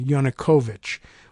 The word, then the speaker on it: Yanukovych: backed Ukrainian president Victor Yanukovych uh and remember I think we learned somewhere along the line that uh my pronunciation of it was wrong on a yonakovich was what they were using so Victor Yanukovych in